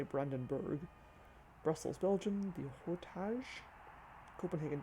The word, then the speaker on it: Brandenburg: Athens, Greece, the Acropos, Berlin, Germany, the Brandenburg, probably should say Brandenburg.